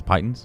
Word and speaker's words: piton: How the fuck are they pronounced again? Pittons? Pitons?